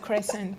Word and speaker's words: croissant: You pronounce it too well. You have to pronounce it croissant.